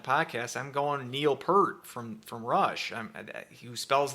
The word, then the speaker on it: Peart: USA Hockey line chart the phonetic spelling is p-u-h-r-t one syllable so Peart I I don't think